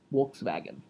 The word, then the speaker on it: Volkswagen: So it's Volkswagen. Volkswagen is how you pronounce Volkswagen. You flip. I feel like you're shitting me right now. W's and V's are flipped in Germany.